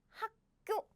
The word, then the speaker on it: 학교: We don't pronounce that way. It's not 학교, but we pronounce it like 학교, 학교.